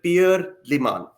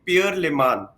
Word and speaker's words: Pierre Le Manh: that's the French pronunciation of it. There's the Vietnamese one and the American one, but you did it well. I was born in France, so it's the right pronunciation for me.